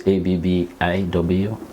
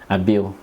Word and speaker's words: Abbiw: The Abbiw is Abbiw. So you pronounce it Abbiw? Abbiw. Abbiw. Yes. I call it Abbiw. Abbiw. Abbiw. It's an I.